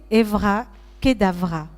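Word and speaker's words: אברא כדברא: hébreu le voilà et on va le prononcer Evra Kedavra ce qui veut dire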